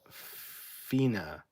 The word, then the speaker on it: fine: Fine is pronounced fina, meaning the end of a piece of music.